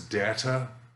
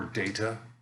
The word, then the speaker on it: data: data datum so uh this word is data or data both pronunciations are are fine datum is a single